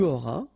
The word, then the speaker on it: auras: And for avoir, it will go like j'aurai, tu auras, il aura, elle aura, nous aurons, vous aurez, ils auront, elles auront. Okay, so have a look now. J'aurai, tu auras, final S not pronounced, il aura, elle aura,